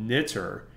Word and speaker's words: knitr: That package is called Knitter. That's spelled Knitr.